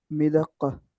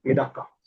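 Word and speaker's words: مدقة: मिदक्का। मिदक्का। मिद्दा कॉफ double रहेगा, मिदक्का।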